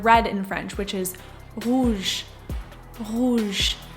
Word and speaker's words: rouge: If we were to take the word red in French, which is rouge rouge, the vowel sound immediately after r is ooh ooh ooh.